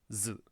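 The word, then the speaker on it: づ: So this one also is pronounced zu.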